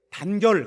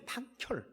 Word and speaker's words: 단결: 근데 격려를 할 때 단결 그렇게 발음하면 엄청나게 기합 받았어요. 단결이 아니에요. 탄결이에요. 탄결. 탄결.